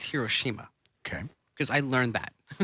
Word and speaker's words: Hiroshima: order to get to Hiroshima okay we say hoshima yes it's not the proper it's Hiroshima okay because I learned that did you learn